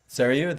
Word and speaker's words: Sarayu: Sarayu, that's how you say it?